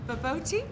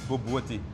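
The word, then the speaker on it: bobotie: I always say it wrong, so don't laugh at me. It's baboti? Baboti. You pronounce it boboti.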